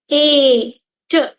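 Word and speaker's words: eight: ए देखिए ए ए एट एट ऐसे पढ़ते हैं क्या आपने कभी भी ध्यान दिया कि एट की स्पेलिंग इतनी बड़ी होने के बाद भी साउंड सिर्फ दो ही है और एट की स्पेलिंग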